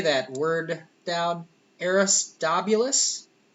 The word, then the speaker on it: Aristobulus: era how do you say that word down aristobulus aristobulus yeah all right 150 BCE claims Solomon is